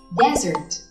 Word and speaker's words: desert: Chỉ cần bỏ một chữ S thôi, chúng ta có từ desert với trọng âm hoàn toàn khác và cách đọc cũng vô cùng khác.